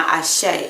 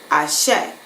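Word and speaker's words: Àṣẹ: add, my life force, my Ashe is how it's said in Ifa. Ashe, my spiritual power that's within me that has the ability to create whatever.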